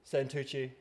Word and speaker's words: Santucci: Today I'm joined here with the closest cult leader, Orlando Sanuchi. How are you, mate? Amazing. I'm so happy you pronounced my name right.